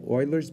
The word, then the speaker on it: Euler: find the approximation of y of one using euler's method it's spelt this way but it's pronounced euler with